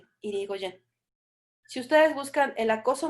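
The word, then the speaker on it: Hirigoyen: Se escribe Marie, M-A-R-I-E, Marie Irigoyen, y el apellido es H-I-R-I-G-O-Y-E-N, Irigoyen.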